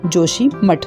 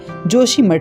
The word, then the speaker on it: जोशीमठ: संस्कृत में या का जा उच्चारण विद्वान करते हैं, इसलिए यज्ञ को आपने यज्ञ कहते लोगों को सुना होगा। इसी तरह उच्चारण में योशी को जोशी कहा जाने लगा और आदि गुरु शंकराचार्य के मठ के कारण इसका नाम जोशी मठ पुकारा जाने लगा।